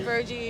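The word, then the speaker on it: Virji: Virgie, okay, yeah.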